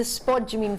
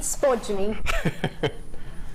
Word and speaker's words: spodumene: But the main love for me for this is the fact that, one, it comes from the spodumene family, and that's just hilarious to say.